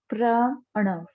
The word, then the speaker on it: pranav: So, I'm going to write it down for you and explain you what actually the pranav meditation. uh, the pronunciation is pranav, pranav, pranav. Again, I'm repeating the pronunciation pranav, pranav.